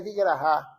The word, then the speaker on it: Vigraha: Eu acho que a pronúncia correta é Vigraha.